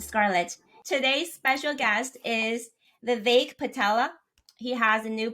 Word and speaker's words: Vivek: I'm Vivek, and I think Ramaswamy likes to call it Vivek, which is the correct pronunciation, but it's nice to say Vivek. That's how I like it.